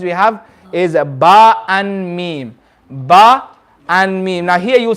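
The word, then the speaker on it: باء: say the letter ba ba is when the outer part of the lip okay the dry part the outer part of the lip is the dry part when the dry part of the lip meets so ba did they say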